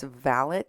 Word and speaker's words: valet: Remember I told you yesterday that the president's valet had tested positive? And for those of you who don't like my pronunciation, I'm sorry. That is the correct Downton Abbey pronunciation of valet.